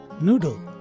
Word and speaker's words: noodle: And if you notice, there is a schwa symbol in between the letters D and L, which means to say that this word is pronounced as noodle as opposed to noodle.